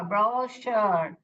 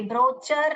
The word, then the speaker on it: brochure: अब ये वर्ड देखिए, ब्रो, क्या साउंड आ रहे हैं यहाँ पे वापस, तो यू आर ब्रोशर। ये ब्रोचर नहीं है।